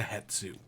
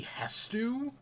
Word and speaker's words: Hestu: to go back to headsu or yeah I kept saying it wrong I think his name is actually hestu I kept pronouncing it